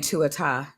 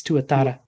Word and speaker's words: tuatara: Oh, Bria's saying tuata. Tuata. Is that how you pronounce that? She missed an R. It's tuatara.